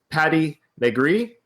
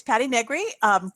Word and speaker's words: Patti Negri: We have with us Patti Negri, and introduce yourself, Patti. My name is Patti Negri. Good pronunciation.